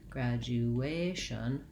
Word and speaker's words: graduation: graduation you also noticed when i said graduation that i was longer on that syllable so it's graduation short short long short graduation the first letter a